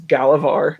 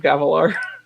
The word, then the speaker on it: Gavilar: one of the points, Michael Kramer says Galavar instead of Gavilar. I was like, am I saying it wrong, or did he say it wrong?